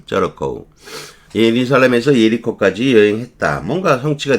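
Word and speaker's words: Jericho: 한 남자가 예루살렘에서 예리코라고 하지만 발음은 저리코 이렇게 하겠지만 저리코 예루살렘에서 예리코까지 여행했다.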